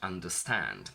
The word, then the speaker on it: understand: Let's take a look at the word understand. Understand has 3 syllables with the primary stress falling onto stand, so the last syllable.